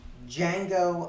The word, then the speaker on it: Django: A few years later is Django Unchained. The D is silent. Gentlemen, you had my curiosity, but now you have my attention. So, Mike, what's wrong with you, my man? What'd you think of Django?